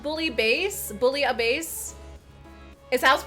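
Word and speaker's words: bouillabaisse: oh goodness bullet oh it's called bully base bully a base is house pronounced okay interesting so with that i definitely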